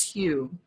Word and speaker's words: HU: ancient mantra a sacred sound the word is hugh it's spelled as hu and pronounced like um like